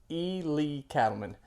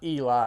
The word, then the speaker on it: Ely Cattleman: And yes, guys, if you're wondering, it is pronounced E. Lee Cattleman, not Eli.